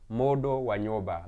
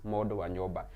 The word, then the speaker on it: Modo Wanyoba: So the U is an O, the N is silent, and the other U after the D is also an O. So it's Modo Wanyoba.